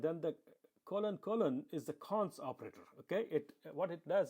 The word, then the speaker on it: cons: Okay, and it's pronounced cons, which is available from Lisp.